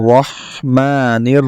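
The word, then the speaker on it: الرحمن: বিসমিল্লাহির, এখানে রটা হলো আবার নিয়মতান্ত্রিক হরফ, যেটা আমরা বলেছি যে বাংলা র অক্ষর থেকে একটু মোটা করে পড়তে হবে। তাহলে আপনাকে পড়তে হবে বিসমিল্লাহির রহ, রাহ বলা যাবে না, এটা খেয়াল রাখবেন। বিসমিল্লাহির রহ, এখানে হাটা হলো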